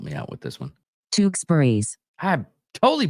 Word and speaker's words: Tewksbury: The Grahams and the Torksburg, help me out with this one. Tewksbury's. I totally butchered that.